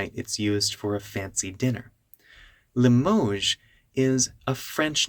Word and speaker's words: Limoges: Most people watching this may not know what Limoges really means, but you can tell it's a French pronunciation because most English words don't have that je sound at the end.